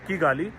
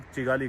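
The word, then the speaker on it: Kigali: कर लेंगे चिगाली के चिगाली यानी किगाली जो कि रवांडा की कैपिटल सिटी है उसे प्रोनाउंस से ये लोग चिगाली करते हैं। पता नहीं क्यों।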